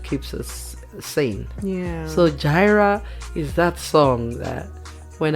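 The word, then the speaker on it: Jireh: It's pronounced Gyra. It's Gyra.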